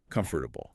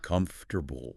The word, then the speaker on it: comfortable: They will carefully say it with four distinct syllables. Comfortable, right? But native speakers don't do that. They crush the middle of the word completely, reducing it to three syllables.